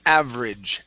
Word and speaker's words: average: Okay, now this is going to be average instead of average. Okay, so we're not going to pronounce that E. So it's average.